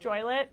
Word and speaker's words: Joliet: Um, it's pronounced joylet.